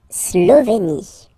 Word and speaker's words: Slovénie: Remember, you get this E accent aigu here. It's E, E. Slovénie. Final E, as usual, not pronounced. La Slovénie. Okay? La Hongrie. So remember, H doesn't exist, so you don't pronounce it. So it starts with O-N, on, on. And then gris, gris. Final E, not pronounced.